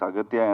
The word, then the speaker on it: Aghathiyaa: In both ways, it is pronounced. Yeah, it's Aghathiyaa and also Agasthiyaa.